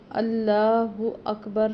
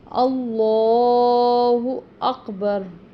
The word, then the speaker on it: اللہ اکبر: تحریمی ہے، اللہ اکبر۔ اس میں یہ جو اللہ اکبر نہیں پڑھنا، اللہ اکبر۔ اس کی وجہ یہ ہے کہ اس لام سے پہلے حمزہ پر یعنی کہ الف یا حمزہ پر زبر ہے، اس لیے اس لام کو موٹا پڑھیں گے، پر پڑھیں گے، اور